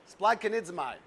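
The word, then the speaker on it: σπλαγχνίζομαι: Is that how did I pronounce it right, Rick? It's perfect. Spladkonidzomai.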